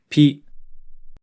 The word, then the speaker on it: ぴ: Hi with a handakuten is pronounced pi.